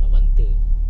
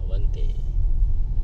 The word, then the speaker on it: Avante: to pronounce. Avante. Not Avante. Avante.